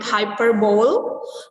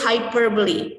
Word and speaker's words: hyperbole: Most of us pronounce it hyperbole, but actually it's hyperbole.